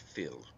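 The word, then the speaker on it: fuil: word is taken from the irish word phil f-u-i-l pronounced phil meaning blood it also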